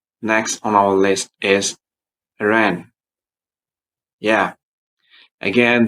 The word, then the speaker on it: Iran: Next on our list is Iran. Yeah. Again, don't say Iran or Iran. Please say Iran. It's song and Iran.